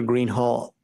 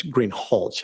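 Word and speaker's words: Greenhalgh: thank you your honor officer Greenhall I believe I'm mispronouncing your name it's green hch isn't it correct okay I apologize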